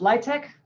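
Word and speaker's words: LIHTC: housing tax credits uh it's pronounced light tech rhymes with high-tech and so it's the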